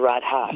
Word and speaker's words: Radha: Even the H, the Radha. Great. Yeah. Radha.